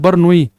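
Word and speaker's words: Bernoulli: बर्नोली की प्रमेय बर नॉलेज थ्योरम बर्नोली की प्रमेय हालांकि सही प्रोनंस है बर्नोई ये हिंदी में बर्नोली लिखा होता हम भी बर्नोली लिख देते हैं ये साइलेंट रहता है एल वगैरह बर्नोली की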